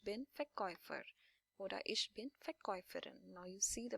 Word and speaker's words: Verkäufer: So Verkäufer, now this A and U combination, these are the diphthongs, two sounds together. So we pronounce this as Oi, Verkäufer. This is like Oi, the sound of Oi, Verkäufer oder Verkäuferin.